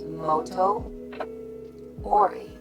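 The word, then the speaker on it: Motoori: a marged with noranga or motori pronounce Moto ory it's an 18th century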